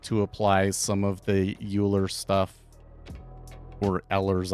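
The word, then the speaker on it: Euler: apply some of the uler stuff or Ellers I don't know how you say how he says his name but I think it's supposed to be pronounced Oilers um but uh like the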